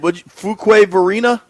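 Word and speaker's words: Fuquay-Varina: Fuquay Varina? Fuquay Varina, yes. That sounds like a city in Costa Rica, not North Carolina. Varina. All right, shout out to Fuquay Varina.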